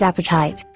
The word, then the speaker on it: apatite: of the week is apatite let's break it down into syllables @p type that's three syllables good job Chris Caesar